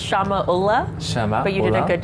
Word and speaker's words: Shamya Ulla: have the pleasure to receive Samia EULA dong Shama EULA from RBC Capital Royal Bank of Canada yes I'll just correct it's pronounced Shama Ola Shama you did a good job yes my